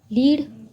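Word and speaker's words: lead: वो क्या है, जो सूट, सूट इनकी प्रोनाउंसिएशन भी सेम है लेकिन इनकी प्रोनाउंसिएशन सेम नहीं होती। लाइक लीड, लीड होता है किसी को आगे ले जाना,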